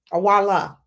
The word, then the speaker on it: Iweala: Ngozi Okonjo-Iweala. Awala. Awala. Okay. Girl. If we can say Schwarzenegger, we can pronounce our African brothers and sisters' names, okay?